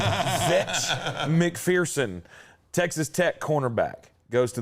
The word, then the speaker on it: Zech McPherson: Yeah, Zach McPherson or Zech. Zach McPherson. Or is it Zech? I'm going to call him Zech because that's how it's spelled. Zech McPherson, Texas Tech cornerback.